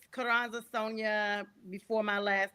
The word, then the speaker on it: Sonja: And it's Kuranza Sonia before my last name gets butchered.